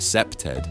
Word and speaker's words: CPTED: The principle here is environmental design, specifically crimerevention through environmental design or CPTED, pronounced septed, because criminologists love acronyms.